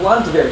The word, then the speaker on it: Landwehr: So you had Wehrmacht here, and you have Landwehr here. Same thing, the D is pronounced like a T, so Landwehr.